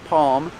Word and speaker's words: palm: never touches the roof so you don't hear an L you hear um almond and calm and palm like this palm tree